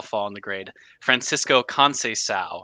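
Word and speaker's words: Conceição: in the grade Francisco con sa I've learned to give sees the S pronunciation there um yeah he does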